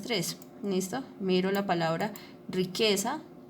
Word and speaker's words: riqueza: Entonces, riqueza tiene el acento en la sílaba que.